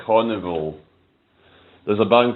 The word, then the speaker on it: Karnivool: It's spelled Karnivool. Carnival.